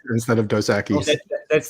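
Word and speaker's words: Dos Equis: fun of liam whenever she says instead of dosaki that's like literally the spanish like if you're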